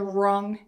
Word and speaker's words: wrong: So if you think of the word wrong, we don't say we're wrong. That's the we're wrong answer. We say that's the wrong answer. So W and R together, remove that W, it's silent.